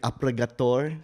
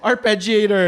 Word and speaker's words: arpeggiator: even know how you say like appragator. How do you say that word? I don't know. Appragator. It makes everything sound good. Right. Oh, arpeggiator. Arpeggiate.